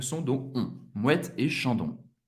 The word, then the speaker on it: Moët et Chandon: E essa marca é Moët et Chandon. Moët et Chandon. Moët et Chandon. A-N tem o som do AN. O-N tem o som do ON. Moët et Chandon.